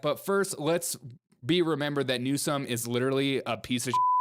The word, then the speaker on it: Newsom: Call me new scum to my face. I'm not It's not funny. It's not freaking funny. Don't you call me NewsCUM. I'm literally Newsom. Say it right.